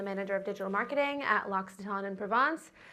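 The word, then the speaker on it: L'Occitane en Provence: of digital marketing at Lockxaton in Provence. I know no one knows how to pronounce it, but that is how you pronounce it.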